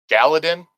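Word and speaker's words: Galladon: Galadin?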